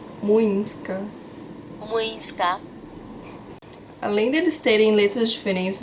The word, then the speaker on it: Młyńska: rua que eu moro, que chama Miłęska. Młyńska. Desculpa, o Google me corrigiu. Młyńska.